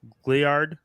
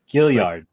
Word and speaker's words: Gilliard: The first one, Gliard, who I always feel like I pronounce incorrectly. Gilliard. No? Gilliard? Gilliard. Oh, there's an I. Like okay. Gilliard. No? I always thought it was G-L-Y-A-R-D. Oh, yeah, that would be wow. I never noticed the I.